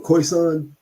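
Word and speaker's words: Khoisan: looked it's pronounced the Koisan with who?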